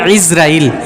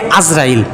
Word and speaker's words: ইসরাইল: সঠিক উচ্চারণ ইসরাইল, শেষে জের, শুরুতে আইনের মধ্যে জের। আমরা যেটা গলত মাশহুর যেটাকে বলে, ভুলটা প্রসিদ্ধ, আমরা বলি আজরাইল।